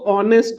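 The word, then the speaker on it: honest: जैसे कि भले ही spelling H ओ एन एस टी इसको भले ही हम एच से स्टार्ट करते पर पढ़ते इसको ऑनेस्ट है। ऑनेस्ट तो अगर यहां पर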